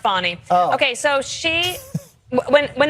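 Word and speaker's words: Fani: fny F it's F spell Fanny but pronounced fonnie okay so she when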